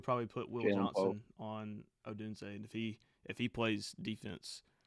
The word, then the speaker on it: Odunze: How you pronounce his name? Odunze.